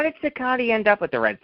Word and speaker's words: Cicotte: His name was Cicotte. Was it really? Yes. I found many places where Eddie corrects people and says, my name is pronounced Cicotte. I have always thought it was Cicotte.